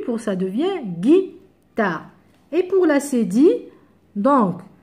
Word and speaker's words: guitare: pareil un U pour guitare ici guitare si j'enlève le U ça devient gitard donc on doit rajouter le U pour ça devient guitare et pour la cédille